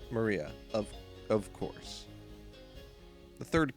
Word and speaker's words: Maria: is written like that of course that is pronounced Maria of of course the third character looks like